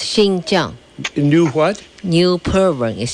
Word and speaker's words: Xinjiang: First China of all, how do you pronounce Xinjiang? Xinjiang, new province. Xinjiang. New? That's, new province. It's Xinjiang.